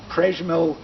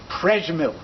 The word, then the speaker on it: Przemyśl: Moshe Ziffer was born on April 24, 1902 in Przemyśl, Galicia.